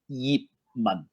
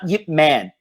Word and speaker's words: Yip Man: in Cantonese it's pronounced Yee Mong not yet man eat money right to save money Yip is the lowest tone it's a sixth tone the same tone as